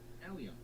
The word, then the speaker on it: allium: Let's see, how do you pronounce this? Oh, wait a minute. Bulb? Try that again. How do you say that? Allium.